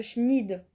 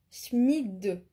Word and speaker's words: Schmid: dans la dysplasie de Schmid pas schmi smid voilà ça ça se finit avec un D et pas un T parce que ça s'écrit